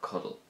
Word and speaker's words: Codail: Now, cuddle has two syllables, so it takes two items of speech to say it. Cuddle, two syllables.